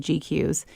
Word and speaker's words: GQueues: And the program I use for that is called GQs.